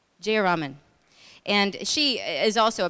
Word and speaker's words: Jayaraman: Jayaraman.